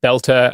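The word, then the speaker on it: Boelter: According to one account, a man called Vance Beltter, it's pronounced Belter.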